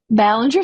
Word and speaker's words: Ballinger: Byron Darnell and is that b Ballinger Ballinger thank you I didn't want to mispronounce and Mike Bell we